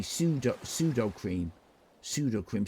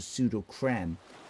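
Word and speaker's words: Sudocrem: Pseudo cream. Some people pronounce it pseudo creme because I don't think there's an E on the end.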